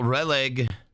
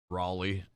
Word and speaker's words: Raleigh: Kale releg. I know it's Raleigh. Like I'm pretty sure it's pronounced Raleigh. My dad used to smoke Raleigh Lights 100s when I was a kid.